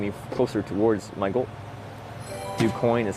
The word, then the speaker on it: Du Quoin: Du Quoin is how you say it.